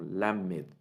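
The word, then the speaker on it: ל: En una parte de la pronunciación de la letra, la lengua toca sutilmente la parte anterior de los dientes, como lamed, lamed.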